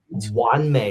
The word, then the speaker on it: Wan Mei: So Wan Mei is how you say that word.